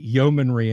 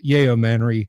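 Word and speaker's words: yeomanry: to to the the Yomomanry, and I insisted on call calling it the Yomomanry. Oh, that drove her up the wall. She's like, "It's Yomomanry." And it's yayomanry. That's probably how Gary pronounced it.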